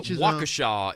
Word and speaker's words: Waukesha: 80s version okay uh waukesha is the pronunciation thank you very much uh waukesha yeah um yeah can